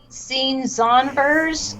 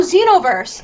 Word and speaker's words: Xenoverse: Anyone play Xenonverse 2? Is that how you say it? Oh, it's a DBZ game. Oh, Xenoverse.